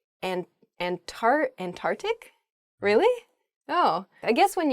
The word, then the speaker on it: Antarctic: earth the south is the ant arctic there's sort of like almost a hiccup in the word they're antarctic oh uh in